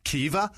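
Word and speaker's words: Caoimhe: There's a V in there. Yeah, it's like uh what was it? So C A O C A O I M H burn is pronounced I googled it because Kea that's how you pronounce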